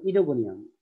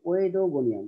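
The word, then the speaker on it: Oedogonium: ওকে, মানে পাশাপাশি দুইটা ভাওয়েল থাকলে সেকেন্ড ভাওয়েলটা উচ্চারিত হয়।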